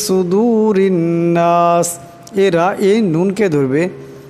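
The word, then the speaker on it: صُدُور: সুদূর এখানে সোয়াদ আছে, সোয়াদের আওয়াজটা মোটা করিয়া পড়তে হবে। আবার এখানে ওয়াও সাকিন তার ডাইনে পেশ, তাই এই ওয়াও সাকিনকে একালে পরিমাণ লম্বা করিয়া পড়তে হবে। ফি সুদুরিন নাস এরা এই নুনকে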